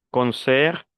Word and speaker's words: concert: Concert, poste, sport. A pesar de que es una palabra extranjera, no se pronuncia la T.